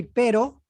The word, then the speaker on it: pero: so for example we say pero we use one r means but why we use perro is dog by you can listen my pronunciation perro yes any other words